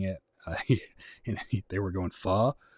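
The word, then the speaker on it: phở: too it's funny because most people call it pha like well like far is like how they say it in in the united states but in vietnam it's far far it's just pronounced different uh it was funny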